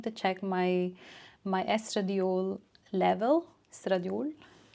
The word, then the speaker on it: estradiol: Estradiol. I don't know how to pronounce it in English, but it is estradiol in Norwegian.